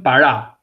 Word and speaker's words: para: Accent pronunciation para. Para. Accent is right there in the last vowel. Para, because if you say para, that means before or in front of. Para means money.